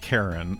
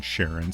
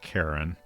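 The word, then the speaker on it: Charon: I could determine um knowledgeable people agree that it is pronounced Karen, but I think Sharon is at least in the US seems like a more common pronunciation of it.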